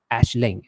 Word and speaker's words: Aisling: It's Ashling, and H is not silent. It's not there.